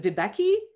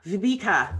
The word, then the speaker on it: Viveka: we have here uh is it vibeki have i got that pronounced correctly if i don't please forgive me and if you can if you can give it to me phonetically in the chat i will do better the next time v viveka oh that's so much prettier vibka so we have